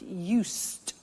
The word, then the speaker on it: used: I said used, with a T sound.